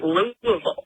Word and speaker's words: Louisville: day early personally um also that's how you pronounce it by the way it is Louisville that is right most of my parents are